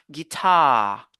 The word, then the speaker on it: guitar: vient après l'apostrophe on se base sur cette syllabe on a guitare guitar on va pas dire guit non on